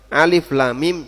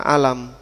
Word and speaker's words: الم: Nah, huruf muqat'ah bacanya tidak disatukan sehingga alif lam mim jangan dibaca alam, ha mim jangan dibaca ham. Kemudian alif lam mim ro jangan dibaca almer tapi dia dibaca secara terpisah.